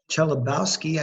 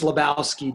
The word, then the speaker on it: Chelabowski: It's pronounced Lebowski, Dr. Lebowski. That's a tricky one. Thank you. Silent.